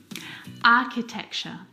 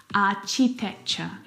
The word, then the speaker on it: architecture: Architecture. Architecture. This one is so often mispronounced. I hear architecture. Aitecture, which is incorrect. The ch sound in this word is a c sound like in cat.